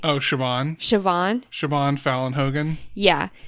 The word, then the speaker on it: Siobhan: say her name how do you say oh siobhan siobhan siobhan fallon hogan yeah she um she's